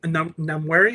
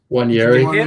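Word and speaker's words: Nwaneri: Maybe you get more of I keep on forgetting their youngster that Namwari, I think that's how you pronounce his. Wanyeri, yeah, Ethan Wanyeri.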